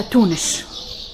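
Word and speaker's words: Tunes: هما تونس راهم ينطقوش فيها تونس كيما ننطقوا فيها احنا، ينطقوا فيها تونش. الأس هذيك ينطقوها شاء.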